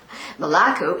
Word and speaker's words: Malaku: Rebecca Casey this is malaku tadesse Rebecca my pronouncing your name right it's a pleasure to meet you oh it's nice to meet you is it malaku yes malaku is from Ethiopia he's